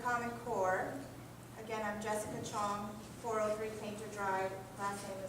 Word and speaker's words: Chiong: is at the common core again i'm jessica chong for everything to drive the CH i 0